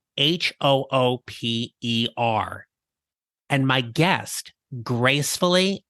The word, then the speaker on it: Hooper: to the midcareer GPS podcast episode 110 Hooper welcome to the midcareer GPS podcast thank you I'm Hooper who is delighted to be here did you